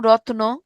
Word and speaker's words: রতন: যখন এই যুক্ত বর্ণটা ভেঙে যাচ্ছে, মাঝখানে একটা নতুন অধ্বনি আসতেছে, কোথায় বসছে? এই যে র যোগ ত যোগ অ, এখানে বসছে, অর্থাৎ মাঝখানে, রতন।